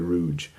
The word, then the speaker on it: Rudge: Just because my professor, my Dickens professor in graduate school, John Glendenning, always said Rudge.